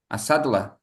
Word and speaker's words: Asadullah: How is the right way to pronounce? Is Asaradulan? That's it? Asaradulan? Sadallah. Asadullah. Yeah, Ah, great. that's an Afghan name.